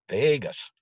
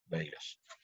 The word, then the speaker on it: vagus: does both almost there Vegas don't spell it like Las Vegas right V AG us is the way you spell so it's a big